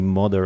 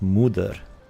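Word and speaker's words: Moder: Holy mother of drakes. Yes. You know, people usually call it Mother, the mountain's boss. But I hear it's pronounced Muder. You know, kind of like mother.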